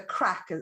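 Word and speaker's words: craic: crack yeah yeah so we have the crack c r a i c it's spelled crack that kind of crack um so they they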